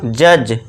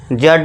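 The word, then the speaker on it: judge: डी को silent कर देंगे। हम इसको बुलाएंगे नहीं। उसे क्या बोलेंगे हम? जज। जड नहीं जज।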